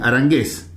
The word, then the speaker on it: Aranguez: se pronuncia así, Arangués.